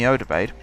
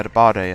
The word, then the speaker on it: Odebade: I signed a player called Yemi Odebaid, or Yemi Odebade, I think is how you actually say his name, but back then to me it was Odebaid.